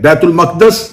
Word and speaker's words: بیت المقدس: اسے بیت المقدس کہا۔ چلیں، بیت المقدس اس کا اصل تلفظ ہے جس کے تحت اس لفظ کو بولا جا سکتا ہے۔ بیت المقدس مسلمانوں کا